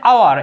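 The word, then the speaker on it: hour: কিন্তু এ বসার কথা, কিন্তু না, এইটার উচ্চারণ হচ্ছে আওয়ার, এটার উচ্চারণ কি আওয়ার, হ্যাঁ এটার উচ্চারণ যে স্বরে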